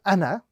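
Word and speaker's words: أنا: The rule is the final alif in the word ana is not read in continued recitation. It is only read when stopping on this particular word.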